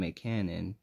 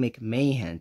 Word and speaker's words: McMahon: Turner, who's played by Julian McCannon, or Julian McMahon, technically, if how his name is technically pronounced.